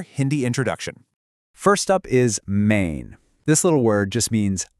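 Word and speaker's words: मैं: Now, for the pronunciation, it sounds a lot like May, but you add this soft, kind of nasal N sound at the end. Main.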